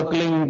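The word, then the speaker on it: क्लीं: एक शब्द क्लिंग शब्द, कह आधा लय में मिला हुआ, बड़ी एक ही मात्रा और बिंदी, उसका उच्चारण होगा क्लिंग। गा गा की ध्वनि निकलेगी पीछे।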